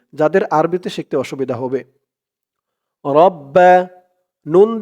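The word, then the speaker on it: ربنا: আরবিতে শিখতে অসুবিধা হবে রব্বা নুন দিয়ে এই গইন ধরবে নুন গইন জবর নাউ রব্বানা রব্বানা ফাজের ফির রব্বানা ফির রব্বানা ফির লাম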